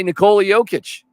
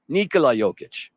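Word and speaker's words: Nikola Jokić: McKinnon was honored um by Nicole yic Nicola yic I should say it right another incredible moment here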